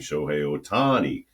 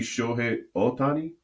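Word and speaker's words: Shohei Ohtani: the years by saying Shohi Otani, you know, and so I said, is is shouldn't it be Shi Otani? Because Japanese pronunciation is very flat.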